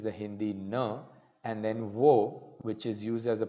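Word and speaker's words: を: hindi no and then whoa which is used as a particle and it is pronounced as Oh just as an O okay that's it we're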